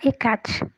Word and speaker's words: Hekate: significado do nome Diego se nós fossemos fazer a pronúncia correta né o correto seria falar e Kate mas aí nós estamos abrasileirando E aí ficou at